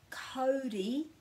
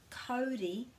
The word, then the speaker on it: Kauri: It doesn't change into ow, so it's not Kauri and it's not Tauranga. It's au. Kauri and Tauranga. Kauri and Tauranga.